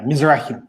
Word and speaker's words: Mizrahi: a special guest today or mazar-e sorry if I'm butchering the pronunciation in your last name there but uh welcome aboard guys hi yeah Mizrachi yeah what that was good enough all right